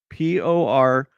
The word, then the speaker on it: Portsmouth: You pronounce it Portsmouth. Porchmouth.